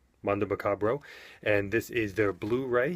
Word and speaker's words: Mondo Macabro: I believe they're pronounced Mondo Macabre, Macabro. Mondo Macabro, and this is their Blu-ray.